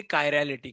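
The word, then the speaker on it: chiral: तो हम चेक करेंगे कायरेलिटी।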